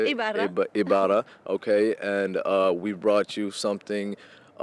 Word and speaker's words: Ibarra: Ibarra.